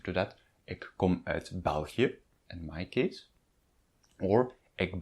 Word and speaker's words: België: The 2 dots on the België are there for pronunciation reasons, and the double dot is always there for pronunciation reasons. It means that the vowel just before and the vowel on which it stands should be pronounced separately.